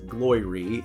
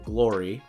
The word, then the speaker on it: Gloire: the glory line it's spelled g-l-o-i-r-e it's not pronounced glory it's glory um and it is something that they sell